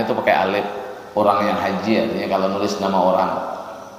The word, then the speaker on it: haji: Kalau bahasanya boleh haji, boleh hiji bacanya, boleh aja.